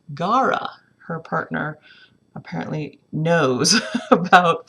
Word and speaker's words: Gaura: about that flower in the garden it is pronounced gara her partner apparently knows about flowers so she